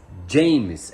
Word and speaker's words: Jemmes: Essa é a pronúncia, tá? Se escreve Games, mas James é a pronúncia correta do novo zagueiro do Fluminense.